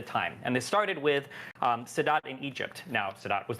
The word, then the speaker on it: Sadat: Saddam, he is in Egypt. Saddam in Egypt. What? You said Saddam in Egypt. Am I pronouncing Sadat? Anwar Sadat?